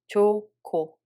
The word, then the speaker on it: 좋고: When we read it, 히읗 makes the following consonant aspirated. So second syllable becomes ko, not go anymore, and no 히읗 sound exists anymore. So we read it as 좋고, 좋고.